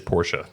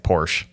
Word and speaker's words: Porsche: The correct way to say it is Porsche. Porsche. Yes. So everyone running around saying Porsche.